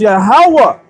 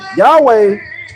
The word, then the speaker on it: Yahawah: Is Yahawah because everything has meaning. Yahweh doesn't mean anything.